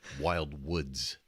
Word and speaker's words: Wildwoods: You You have to say it right. Wild Woods.